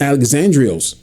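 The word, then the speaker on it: Alexandros: See, for example, I can look at my name, which in Greek means is pronounced Alexandrios, which means to ward off, defender.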